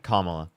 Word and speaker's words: Kamala: How do you pronounce her name? Kamala.